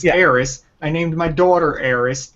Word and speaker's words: Aerith: It's Eris. Okay? I don't know why they're trying to do this revisionist history and fix it. It's too late. It's Eris.